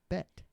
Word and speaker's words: bet: Like No, they say bet. It's bet, but it's just- with a silent T.